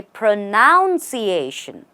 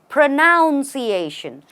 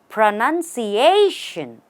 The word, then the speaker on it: pronunciation: is this word pronounced mostly people make mistakes when they say pronounciation because you pronounce a word they say pronunciation but the way to say this correctly is pronunciation the stress is right here right here on the a before Shan pronunciation try it after me